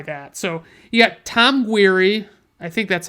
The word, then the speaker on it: Guiry: So you got Tom Guiry, I think that's how you say it, Guiry, Guiry.